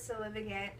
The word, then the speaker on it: Sue-Lyn: But the title of the show is Sue-Lyn. Just so everyone who didn't know how to pronounce it, that's how you pronounce it.